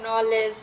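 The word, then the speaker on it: knowledge: যদি এন হয় তাহলে জি এবং কে এর উচ্চারণ হয় না যেমন নলেজ নক এরপর হচ্ছে নল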